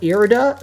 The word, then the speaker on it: Irida: one, which is Irida or Irida, however you pronounce it. I think I call it Irida.